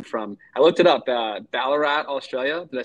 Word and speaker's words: Ballarat: I know you got a unique story as well, being from, I looked it up, Ballarat, Australia. Did I say that right? Yeah, you got the Boom.